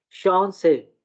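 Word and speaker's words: Chance: ये जो वर्ड है इसको क्या प्रोनाउंस करेंगे, चांस को? शान से।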